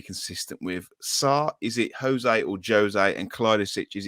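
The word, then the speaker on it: José: Yeah, because it's Portuguese. It's a Jose. Sorry, it's a Jose, not a Jose.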